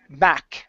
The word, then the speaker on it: back: Instead of bobba, it's ba back. A short a sound.